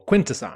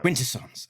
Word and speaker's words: Quintesson: The um quint uh emphasis on the first syllable. Quintessance. Quintessance.